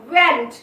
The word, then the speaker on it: weren't: ওয়্যার নট, ওয়্যার নট ওয়েন্ট, এখানেও দেখো আর এর সাউন্ড নেই, ওয়েন্ট, ওয়েন্ট উচ্চারণ করা হচ্ছে, অর্থাৎ ওয়্যার এভাবে সাউন্ড দেওয়া হচ্ছে, আর এর সাউন্ড থাকছে না।